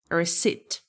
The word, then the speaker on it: receipt: So P is silent here. Receipt for instance.